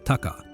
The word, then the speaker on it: Taka: By coincidence, the actual pronunciation of Takauji's name did not change, having already included another kanji character pronounced as Taka, but the new character used to convey the Taka sound was suddenly a lot more prestigious.